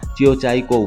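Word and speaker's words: 九寨沟: মায়াময় উপত্যকা থাকতে পারে পুরো পৃথিবীর কাছে এই উপত্যকা জিও জাইগো ভ্যালি নামে পরিচিতি পেলেও প্রকৃত চীনা উচ্চারণে এর নাম জিও চাইকো ভ্যালি ভ্যালি রথগুলো সমুদ্রপৃষ্ঠ থেকে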